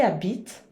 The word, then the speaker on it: habitent: Lembrando que o NT da terceira do plural não se pronuncia nunca. Nunca, nunca, nunca se pronuncia o NT da terceira pessoa do plural, tá?